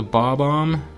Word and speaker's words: Bob-omb: Next is a Bob-omb, like Bob and then Om, so it's like B-O-B-O-M-B.